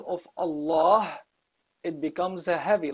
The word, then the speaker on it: Allah: there's no kasra so the name of Allah is a heavy pronunciation of the lamb there have also in